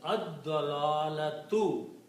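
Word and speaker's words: الضلالة: And also when you pronounce, lam is not pronounced but dad is pronounced twice, so it is ad-dalalatu. The actual word is ad-dalalatu.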